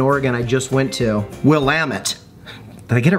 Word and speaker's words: Willamette: This wine, by the way, Other People's Pinot, and this is from that valley in Oregon I just went to, Willamette.